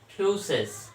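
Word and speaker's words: φύσις: Greek language का ये एक टेक्स्ट है और इसका प्रोनाउंसिएशन होता है फ्यूसिस, और फ्यूसिस से ही बना हुआ है।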